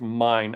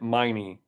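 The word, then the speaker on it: Meine: Housemine just and I just found out his name is pronounced mine. I've always always pronounced it miney, but it's mine.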